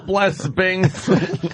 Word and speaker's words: blesbings: Multiple blesbings. No, it's an 8. Blesbings. No, that's how you pronounce it. Jimmy nailed that. I know. A little callback. Because she spells blessings. BLES 8. INGS, so it's blesbings.